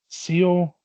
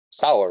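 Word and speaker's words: Saor: Sour, right? Sour? No, it's pronounced like Seal or something. It's Dior. spelt like sour, but it's pronounced like Seal or something because it's in like Scottish Gaelic or something.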